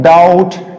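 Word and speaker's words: doubt: इसको क्या पढ़ेंगे हम लोग, डाउट, डाउट, बी को हम छोड़ेंगे।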